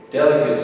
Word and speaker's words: delicate: here instead of saying Kate it becomes kit delicate is the correct pronunciation because you're stressing another Sol then the